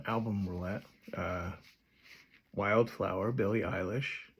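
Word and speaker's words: Eilish: I listened to her album last year on our random album roulette, uh, Wildflower, Billy Isish, and the proper pronunciation is eyelash. Most people don't know that.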